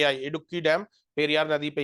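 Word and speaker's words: Idukki: हां साइलेंट प आपके इड़की डैम इड़की डैम जैसे इंग्लिश में नॉर्थ इंडियन वाले कहते इडुक्की इट इज नॉट इडुक्की इ इड़की इडुक्की डैम जो है आईडी यू डबल के आई इडुक्की डैम पेरियार नदी पर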